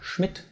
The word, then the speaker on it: Schmidt: You will also find words that are written with a DT, like Schmidt or Stadt, and those sound virtually indistinguishable from their T counterparts, that are Sport or Pirat.